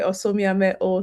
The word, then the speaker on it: Osomiamhe-O: Um, it's actually Osia O. So, you didn't pronounce my name properly.